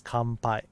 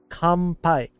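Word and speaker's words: 乾杯: the letter N this letter N gets pronounced like m in front of a b m or P letter in front of it so technically the pronunciation of this would be compai like a MP coming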